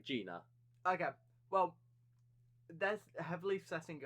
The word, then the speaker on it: Gina: So there's 2 spellings for her name, but it's still pronounced the same way, Gina.